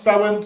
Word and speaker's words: Samhain: So it starts Samhain, but it's pronounced Samhain.